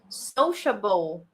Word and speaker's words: sociable: So for example, sociable. Remember, the sound is sh.